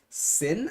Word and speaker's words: SYN: to be dead is for singing on team sin i believe is how you pronounce their name syn is the spelling but